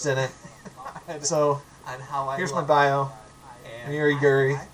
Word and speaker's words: Uri Guri: So, here's my bio, Uri Guri, it rhymes.